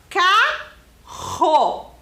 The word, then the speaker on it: carro: Olha só o som, hein? Carro. Vocês percebem que o som que eu estou fazendo é bem forte para fazer a sílaba ro? Então, isso significa que essa palavra é escrita com 2 R's.